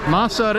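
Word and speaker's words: مصر: Masr is how you say Egypt in Egyptian. Masr.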